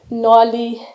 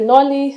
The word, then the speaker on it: Nordlig: confused about the pronunciation just know that the D is silent and that the g is silent so Danish loves to